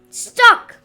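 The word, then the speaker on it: stalk: t a l k but L is silent so it is stock now my dear friends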